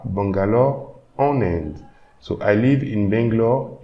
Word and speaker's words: en Inde: So here when I'm pronouncing en Inde, you can hear that there is an extra N. So this is also the liaison phenomenon.